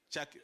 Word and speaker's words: Chakir: I don't know if the second pronunciation is Kakir? Chakir. Chakir. Chakir.